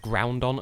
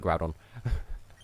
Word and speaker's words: Groudon: Groudon on cuz I I used to pronounce it ground on until I realized there wasn't an n in there so yeah I call it Groudon I think we all